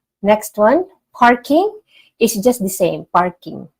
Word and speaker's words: parking: all right next one parking is just the same parking parking parking so the the r sound is more rolled okay parking it's more